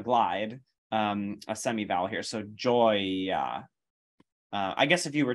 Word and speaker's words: gioia: The E here is actually not pronounced at all. We don't say gioia, right? It's modifying the G consonant to be J, and then you go right to the open O vowel, joy, right?